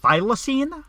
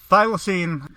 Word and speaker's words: thylacine: The thylacine, I believe, is how it's pronounced.